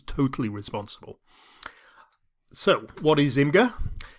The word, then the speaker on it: Imgur: Now I'm pronouncing this Imgur. Somebody told me it was called Imager and it's got me confused, but I'm going to stick with Imgur.